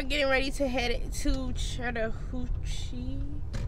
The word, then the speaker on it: Chattahoochee: ready to head to chattahoochee oh i said it right this time chattahoochee food works my